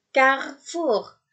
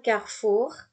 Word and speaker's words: Carrefour: Ketika C bertemu dengan A atau bertemu dengan O atau bertemu dengan U, maka dia tidak terbaca seperti S tadi, melainkan dia terbaca seperti K. Seperti kita membunyikan K.